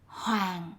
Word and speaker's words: hoàng: Words with n at the end are pronounced like with a ng. The sign on the left say something like, make our country great. The word for great, đàng hoàng, is spelled incorrectly. The second syllable, hoàng, should be spelled with an ng at the end.